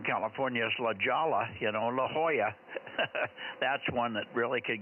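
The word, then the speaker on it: La Jolla: there in Southern California is Lala you know La Hoya that's one that really could get screwed up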